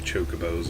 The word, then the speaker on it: Chocobo: Then Final Fantasy X came out and called them Chocobos, and it's like, okay, so that's how you're supposed to pronounce it.